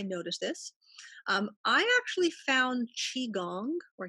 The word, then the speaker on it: qigong: I actually found qigong or qigong, depending on how you want to Okay.